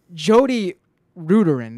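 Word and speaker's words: Jodi Rudoren: but there's also he pointed out that in the New York Times coverage of it, Jody Ruderin, that's how you say her name.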